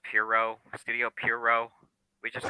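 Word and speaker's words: Pierrot: much um by the way we know it's pronounced Pirro Studio Pirro we just called Pierre Rod or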